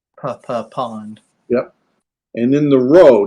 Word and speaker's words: rho: And then the rho. Now the rho looks like our P in English, but the rho is an R sound.